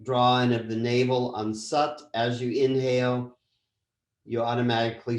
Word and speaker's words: Sat: half to be comfortable south korea we're chanting sat nam s-u-t it's at but it's pronounced sat s-u-t nam chanting my truth is my identity